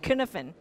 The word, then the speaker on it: Cynefin: It's a Welsh word and it's pronounced Cynefin.